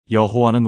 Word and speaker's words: 여호와: 그래서 하나님 이름의 자음에 아도나이의 모음을 합쳐서 여호와라는 발음을 만들어 낸 겁니다. 여러분, 이게 무슨 뜻인지 아시겠습니까? 여호와는 원래 이름이 아니라 두 단어가 합쳐진 혼합 발음이었던 겁니다.